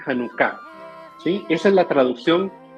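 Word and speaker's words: Janucá: ahora datos interesantes de hanuka primer punto No es hanuka oficialmente en español se dice hanuka Sí esa es la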